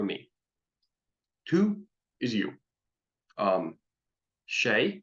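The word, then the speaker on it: sé: two is you um Shay once again it's an s next to an E or an i so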